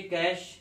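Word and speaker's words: cachet: तो ये कैश, ये कैशे है, टी साइलेंट रहता है, और मीनिंग आता है अवार्ड या ऑनर।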